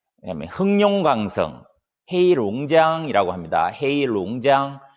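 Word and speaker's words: 黑龙江: 헤이룽장, 이 3개 성에 골고루 분포되어 있고, 시입니다.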